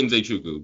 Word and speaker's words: Nzechukwu: It's like Nze Chukwu. It should be Nze Chukwu, but Anyway, yeah, interesting fight.